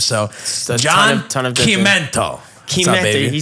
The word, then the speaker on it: Chimento: Chimento, he said it right. Yeah, dude, I can't, the CH is a K sound.